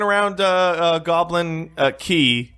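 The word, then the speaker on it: Quay: Like I ran around uh uh Goblin uh Key. Apparently that's how you pronounce it a bunch of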